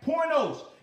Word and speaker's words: pornos: But porno, when it's talking about porno, which is the P-O-R-N-O-S, all right, pornos, P-O-R-N-O-S, and we understand porno, amen, pornos is talking about a male, amen, or a male prostitute, all right, pornos, P-O-R-N-O-S.